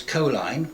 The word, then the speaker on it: Coline: There was Coline, rhymes with toe-line, Thorn, whose speciality throughout